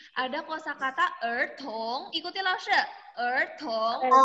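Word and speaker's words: 儿童: Ertong. Bacanya ertong.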